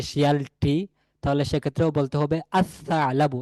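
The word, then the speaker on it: الثعلب: এখানে আল সা আলাবু না, হবে আসা আলাবু। এই লামটি পরবর্তী যে হরফ সা, এই সা এর সাথে মিশে যাবে এবং লামের আলাদা কোনো উচ্চারণ থাকবে না, আওয়াজ থাকবে না।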